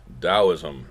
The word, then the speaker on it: Taoism: much looks like Taoism but no it is pronounced Taoism and we'll see some of these other basic